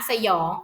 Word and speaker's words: สยอง: ค่ะ นี่ นะ คะ สยอง อ่าน ออก เสียง เป็น สอง พยางค์ นะ คะ อ่ะ สระ อะ สระ อะ หอ ยอ อย แบบ นี้ นะ คะ เพราะ คำ ที่ สอง เนี่ย มัน จะ มี หอ นำ ยอ อยู่ นะ คะ จึง